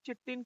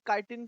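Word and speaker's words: chitin: चिटिन की, काइटिन की, जो भी आपकी प्रोनाउंसिएशन है बेटा।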